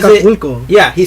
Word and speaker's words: Acapulco: Like if I say Acapulco, he doesn't say that. He says Acapulco.